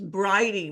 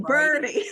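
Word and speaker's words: Bridey: I think it was briy Murphy was one of the first oh briy Murphy right I was saying birdie like knew I said it wrong yeah yeah that was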